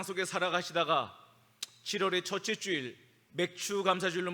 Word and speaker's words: 맥추: 오늘은 한해의 절반을 지나며 하나님께서 베푸신 은혜를 감사함으로 예비하는 맥추 감사주일입니다. 발음을 잘해야 됩니다. 같은 취하돼도 성령으로 취하는가? 다른 음료로 취하는가?